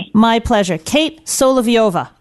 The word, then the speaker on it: Solovieva: Kate Soliviova. Correct. You got it. Oh, I pronounce I was in my head so many